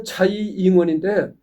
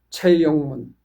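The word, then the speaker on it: 蔡英文: 그러니까 중국 발음으로는 이제 자잉원인데 한문 우리나라 한문 발음에는 한문 발음으로는 최영문. 음.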